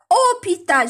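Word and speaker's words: hôpital: هذا ان أوبيتال، شوفوا الأش من الأول ما نطقوهاش كاع ديريكت أو.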